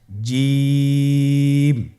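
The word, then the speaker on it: ج: জিম হরফটি বারিক হরফ, এটা উচ্চারণ করতে হবে 3 আলিফ টেনে। দেখুন আমি কিভাবে উচ্চারণ করছি, আপনারা আমার সাথে করুন জিম।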